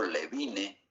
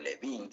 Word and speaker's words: Levine: Porque un señor de apellido Levine, que se lee Levin, que se pronuncia Levin, fue el que estratificó las características del soplo de acuerdo a su intensidad.